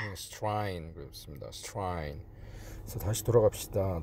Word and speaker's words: Strine: 제 발음이 맞는지 클릭해 보시고 딱 누르시면 Strine. Strine 그렇습니다.